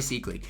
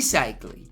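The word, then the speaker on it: Seikaly: to talk about is Ronnie sley now or cyle my fault I've been pronouncing his name wrong and you guys have been on my you know what about it so I finally got it right cyle okay here we go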